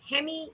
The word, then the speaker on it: Remy: this character was called remy yes and let's move ahead to the next um segment here yes that's a french name so most usually r is not pronounced and it sounds something like hemi but but yes i